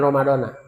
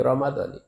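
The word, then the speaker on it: رَمَضَانِ: kata-kata Ramadani ini maka bacaannya yang benar an adaardi Syahri ramad ni bukan Ramadoni mud S mud Rad wajib dibaca kas kasrh itu walaupun tidak ada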